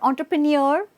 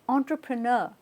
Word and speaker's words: entrepreneur: mispronounced as well now it's not entrepreneur it's entrepreneur right entrepreneur okay so next next